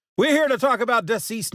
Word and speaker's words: DCeased: It's DCeased, but it's spelled DC, both caps, E-A-S-E-D. DCeased. DCeased.